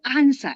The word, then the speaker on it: answer: I always remind them, don't say answer as answer. Answer. I answer you. Yes. ANSWER. The W is silent. W doesn't have sound.